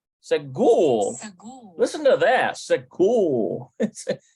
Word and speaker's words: סגור: Segul. It's like there's not, it's not the R sound. It's almost like a rolling. Segul. And it melds into the whole hymn. Segul.